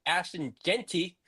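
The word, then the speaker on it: Jeanty: And as for rookie running back Ashton Genty, I said it right.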